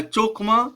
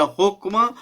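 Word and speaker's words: חכמה: तो ये तीनों है ना उच्चारण जो है इसके होते हैं, लेकिन मोस्टली जो है ज़्यादातर जो है वो चोखमा शब्द जो है इस्तेमाल होता है, चोखमा बोला जाता है, होकमा या चोखमा।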